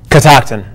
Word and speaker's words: Catoctin: 50, how do you pronounce it? Catoctin.